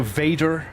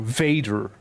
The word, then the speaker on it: Vader: So Vader. I need to enunciate the V a little more. Vader. Vader, not waiter.